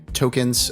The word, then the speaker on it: Toekenz: more information about it uh the the website tokens uh and it's it's spelled a little differently so make sure that